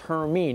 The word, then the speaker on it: Hermine: This thing could get the name Hermine, and yes, that's how it's pronounced, Hermine.